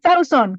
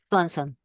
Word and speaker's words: Swanson: Y saon, que siempre digo saon, pero no sé si así se pronuncia. A ver, ustedes díganme. Swanson. Swanson. ¿Cómo? Swanson. Swanson. Okay, entonces así es.